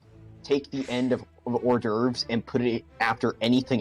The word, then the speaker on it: hors d'oeuvres: was just filling up on how do you pronounce that? Horse Hors dirt. Horse divorce. Order. Horse doors. Horse door. Horse doors. Horse dwarves? It's order. Hors Horse d'oeuvres. d'oeuvres? Oh yeah. No, order. Hors d'oeuvres.